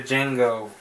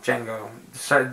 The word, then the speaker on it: Django: I always used to think this is pronounced Django. Django Unchained. No, Django. D is silent.